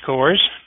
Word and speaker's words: Cohrs: outreach uh the webinar my name is coors and i was born and as you